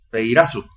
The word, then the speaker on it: peirazo: Del griego peirazo, acento en la A, que significa probar, que significa escudriñar, que significa disciplinar, que significa incitar.